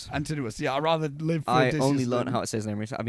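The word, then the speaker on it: Antinous: Antinuous. Yeah. I'd rather live for only learn how to say his name rec. I've been saying Antonyus. It's antinuous again.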